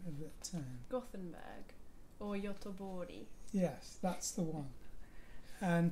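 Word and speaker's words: Göteborg: to talk to the mayor how do you pronounce the name of that term gothenburg or yotobori yes that's the one and to talk to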